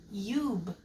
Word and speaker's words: cube: When we add an E to the end of cub, that becomes a long U now. Cube.